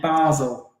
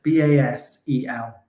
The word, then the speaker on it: Basel: Basil. Yeah, Basil. Basil. Basil. B-A-S-E-L. Basil. Basil. No, Basel. Basel is correct.